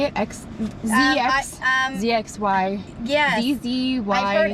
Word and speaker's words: Zzyzx: Zzyzx?